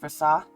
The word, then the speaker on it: Versace: I really struggled with whether or not I should have the population pronounce the second S in Versace. Now that I'm thinking about it, it probably should be pronounced Versace.